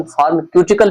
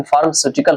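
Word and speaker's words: pharmaceutical: वैसे कहीं-कहीं इसका प्रोनाउंसिएशन फार्मकटिकल भी कहा जाता है लेकिन फार्मास्यूटिकल होते हैं।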